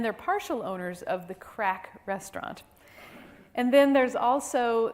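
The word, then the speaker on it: craic: an Irish pub and it's called crack which is spelled c-r-a-i-c because it's Irish and um so yes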